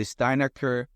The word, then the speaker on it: Steinacher: it's okay you know you could say steinaker that's what people in Nebraska would would probably pronounce it and by the way